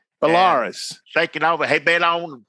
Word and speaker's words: Belarus: Belarus.